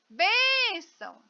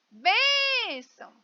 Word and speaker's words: benção: de se lavar né então eu chamo benção Olha eu demorei mais na bem se lava bem benção vem cá benção né então bem sílaba mais forte muito embora as duas